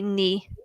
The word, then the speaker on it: knee: that the K so when we have knee the K is silent okay knee the silent K so